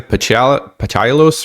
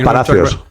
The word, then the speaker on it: Palacios: Patalos or whatever, the other academy player? Oh, Palacios. Pala- Yeah, see, can't say his name.